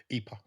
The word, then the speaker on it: IPA: little bars and the IPA craft ale scene in Italy is really starting to to blossom. Um, and they call it EPA. Yeah, my my pronunciation is corrected.